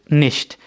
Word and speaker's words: nicht: तो आपने कहा कि माइन हाजा इस्ट निश्ट, निश्ट कहते हैं नहीं को, ठीक है, बहुत ही सिंपल है, यानी कि निश्ट, NICHT, CH की साउंड जो है वो शे की तरह है, निश्ट।